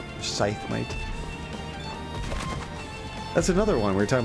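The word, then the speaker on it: Scythe Mite: get out of here skythmite scythemate that's another one we're talking about english and how things are pronounced it looks like it'd be pronounced sky but it's scythe oh we can't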